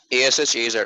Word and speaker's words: Ashaz: like ASHAZ, Ashaz.